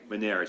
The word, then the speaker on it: Menary's: Menary's, okay, I just want to pronounce it correctly, Dream Alliance.